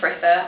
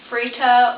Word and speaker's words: Fritha: So yeah, Old English name, Fritha. I'm having, yeah, problems with it here in France because obviously they don't have the th sound in France. They pronounce it just like a T. So I either end up being called like Frita or Frisa, because they sometimes like try and make the sound but it doesn't really work properly, or just